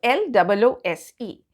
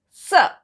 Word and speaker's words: loose: Next we come to L-O-O-S-E, and that is pronounced as loose, sir. The other was z and this is sir, loose.